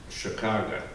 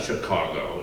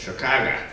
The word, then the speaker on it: Chicago: a red eye from Chicago. That's how you pronounce it, by the way. With an AH on the end of it. Yes, it's not Chicago, it's Chicago.